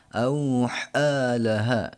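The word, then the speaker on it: أَوْحَىٰ لَهَا: Fathahnya dinaikin ke atas ya, untuk menghilangkan alif yang di sini harusnya. Maka bacanya tetap dihitung situ 1 ketukan. Auhalaha ya. Kita ulang. Bi anna rabbaka awhalaha.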